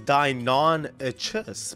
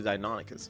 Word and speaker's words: Deinonychus: the way you guys that's actually how you say it i remember how to google it the first time i thought it was dai nan a chess but it's actually dinonicus it's a pretty good